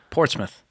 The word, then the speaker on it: Portsmouth: What's it called? Portsmouth. Portsmouth. Just Smith instead of Smouth.